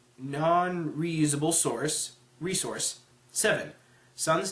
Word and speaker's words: SSSN: reusable source resource seven Sun's team is called sssn pronounced Sun of course it would be eight